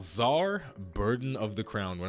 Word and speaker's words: czar: nice it was called czar burden of the crown when I was a little kid I thought it was actually pronounced tease our burden of the crown but it is not so that is a